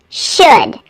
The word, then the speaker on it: should: me don't forget that the L in the words would could and should is silent it's could would should there's no l in those words if you need a